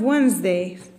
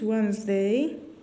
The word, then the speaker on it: Wednesday: age and we have wednesday d it is silent and d let's put it wednesday and silent h let's